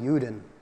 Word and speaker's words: Juden: In German, it's Ruden. It rhymes with Juden.